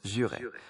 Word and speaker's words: juré: A slight correction on the word jurer. It's pronounced jurer.